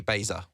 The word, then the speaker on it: Baser: Katie Baser.